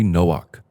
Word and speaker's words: Noah: Originals in this book Noah was really Nook having a k sound at the end of it Nook his son's